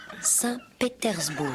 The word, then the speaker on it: Saint-Pétersbourg: Saint-Pétersbourg.